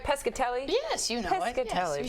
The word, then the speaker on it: Pescatelli: have you back am I saying it right pescatelli yes you know you say four times and